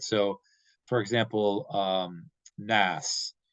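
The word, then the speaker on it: ناس: So nas in Arabic is spelled noon, aleph, sin, right? So in the transliteration, it would be spelled Naas because you have the aleph in there, so it's like an extra long vowel sound.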